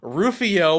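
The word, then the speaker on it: Rufioh: andrew hussey who then made rufio with a silent h at the end a character based off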